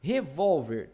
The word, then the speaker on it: Revólver: Revólver tem acento? Tem. Porque, ó, aqui é mais forte.